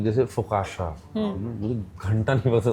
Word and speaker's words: focaccia: फुकाशा तो आप जिंदगी में, उसका स्पेलिंग है FOCCIA, फुकाशा, हाँ, CCIA, FOCACCIA। कैसे तुम्हें सपनों में आएगा कि फुकाशा बोलेंगे इसको? एक्चुअली तो फुसासिया होना चाहिए, या फुकासिया होना चाहिए, या फुकाकिया होना चाहिए।